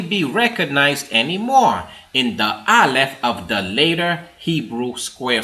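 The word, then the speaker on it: אֶלֶף: Pronounced as Aleph, Strong's Hebrew word 504, it can mean those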